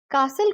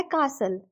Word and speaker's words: castle: वाले सेंटेंस में भी हमने कासल को यूके इंग्लिश के अकॉर्डिंग प्रोनाउंस किया है और उसको दो सिलेबल्स में डिवाइड किया है का और सल में जहां पर टीएल ई की प्रोनाउंस यूल हो जाती है और वह बन जाता है कासल आई होप आज की